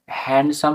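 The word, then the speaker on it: handsome: এখানে ডি এর উচ্চারণ হয় না ফর এক্সাম্পল হ্যান্ডসাম বানানটা হ্যান্ডসাম বানানটা কেউ কেউ উচ্চারণ করে হ্যান্ডসাম হ্যান্ডসাম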